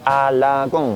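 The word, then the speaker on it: 阿拉贡: Esto significa A, luego tendremos este que se lee la y luego tenemos este que se lee con a la con.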